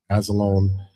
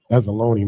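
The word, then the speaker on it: Anzalone: And as far as for the inactives for the Detroit Lions, you got Alex Azzalone. Azzalone, my bad.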